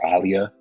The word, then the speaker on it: Aaliyah: her goggles was actually Aaliyah the singer or Alia technically is how you say it but the singer she